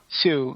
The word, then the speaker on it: Sioux: Yes, he's a Sioux Indian, or Sioux, or however you pronounce Sioux. it. Sioux, yeah.